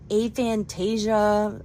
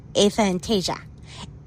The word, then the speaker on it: aphantasia: I think it's called, like, aphantasia or something.